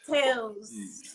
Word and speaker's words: TALES: experience so just experience the S is silent exactly a silent s silent s exactly silent s it's Tales we're telling multiple stories